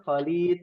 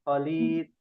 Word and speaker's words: Khalid: terbiasa dalam bahasa Indonesia kita manggilnya Khalid gitu ya bukan khid rumahnya Khalid bukan khid HID khid Hamid bukan Hamid bukan